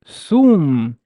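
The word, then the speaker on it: ثوم: vowels, but uh, so the dhamma over the th followed by a waw, we instantly know that it is a long vowel. Oh God, sorry. So how would I pronounce it? Is sum, sum, sum, sum, and that would be garlic.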